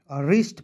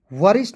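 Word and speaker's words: wrist: उसके बाद डब्ल्यू आर आई एस टी रिस्ट पढ़ेंगे। वरिष्ठ नहीं पढ़िएगा।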